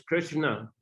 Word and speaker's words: Krishna: Krishna, because if you know how to pronounce Sanskrit, then it's Krishna. Если вы знаете, как произносить на санскрите, то это будет Кришна. And if you read it the way Thais pronounces it, Krishna.